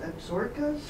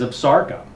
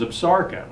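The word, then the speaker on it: Absaroka: took it from is Absarca. Is the pronunciation. And the pronunciation actually comes from the Crow Indians, and it's the word for themselves.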